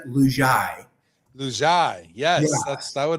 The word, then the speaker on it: Lugiai: It is pronounced Lugiai.